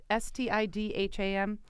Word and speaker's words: Stidham: kid Stidham comes in I'm probably not pronouncing that right steed 'm s st idh a.m. it looks did ahem sit ahem did immersed at him let's say Stidham okay this kid comes